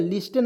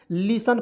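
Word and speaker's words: listen: क्या पढ़ेंगे दोस्तों, लिसन, एल आई एस टी एन, लिस्टन नहीं पढ़ेंगे, लिसन पढ़ते हैं।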